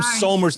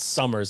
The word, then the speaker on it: Somers: Oh man, I'm from Somers, New York, not Summers, like you weirdo Connecticut people say.